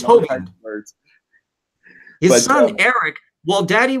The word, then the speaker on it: Hovind: Yeah, he was mispronouncing. Yeah, and it's Hovind.